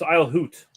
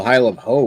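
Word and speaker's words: Isle Haute: No, it's Isle Hoot. Isle Hoot. H-A-U-T. I thought I've always called it Isle of. I always heard it called Isle of Ho, where the T-E is silent.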